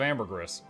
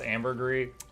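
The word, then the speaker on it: ambergris: people just chunk of Amber grous I mean you you basically Farm gold doing something you do enjoy and then just buy it from someone else thank you sure it's pronounced Amber gree next you're going to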